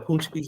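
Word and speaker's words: pączki: a I forget it's it's spelled like pis but they call it punchis but it's like a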